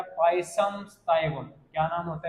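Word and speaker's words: Pisum sativum: पाइसम स्टाइवम। क्या बोलोगे? पाइसम, पाइसम स्टाइवम। मैं इसमें ऐसे हिंदी में लिख रहा हूँ ताकि आप इसको प्रोनाउंसिएशन कर पाओ, है ना, प्रोनाउंसिएशन कर पाओ इसका।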